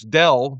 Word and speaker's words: Dell: I get home and then I find out that the employer of my 2 renters, Dell, which rhymes with hell, had also laid off them.